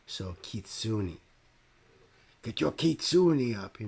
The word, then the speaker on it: Kitsune: I got lectured in a comment under a baby metal song that I apparently wasn't pronouncing Kitsune right. You know, that I need to say it and to be respectful.